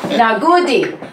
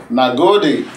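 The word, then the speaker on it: Na gode: And in my best Nigerian accent, I am going to tell you, Nagodi. Nagodi.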